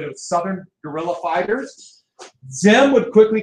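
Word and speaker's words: Diệm: I know it's a D, but the French butchered their language, it's pronounced easy. Xem.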